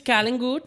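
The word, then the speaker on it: Calangute: So as far as the Kalangut vibe is concerned, in the middle of winter. Excuse me, it's Kalangut.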